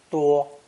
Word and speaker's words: 多: It's pronounced 1st tone, 多, 多.